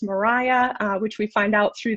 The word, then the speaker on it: Maria: birth of modern meteorology which if you read it initially you think maria it actually is pronounced mariah which we find out